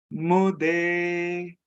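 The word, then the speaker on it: मुदे: Mude. Mude. Here also, U is U sound and E is A sound.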